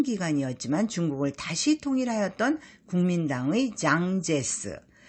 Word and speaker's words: 장제스: 중국을 다시 통일하였다 국민당의 장제스 우리식 발음은 장개석을 타이완으로 밀어낸 마오쩌뚱 즉